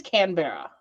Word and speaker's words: Canberra: So it is Canberra. Because you said it would be like Canberry, but with an A instead, so it would be Canberra. Yeah, Canberra. I always thought I said it wrong.